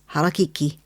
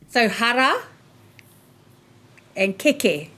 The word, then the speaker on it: harakeke: did was to ask Edith how to correctly pronounce Harakeke. So hara and keke.